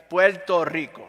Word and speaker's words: Puerto Rico: encanto Puerto Rico y lo quiero pronunciar bien Puerto Rico no con l nosotros no pronunciamos la r Así que cuando nosotros